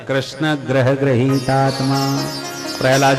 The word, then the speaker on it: कृष्ण: वह लटपटा जाएगी है को शुद्ध उच्चारण कृष्ण कृष्ण शब्द का उपयोग नहीं कर पा अ कि भारत का